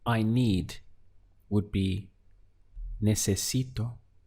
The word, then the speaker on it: necesito: To say I need would be necesito. Let's count the syllables. We have ne, se, si, to. Necesito is I need.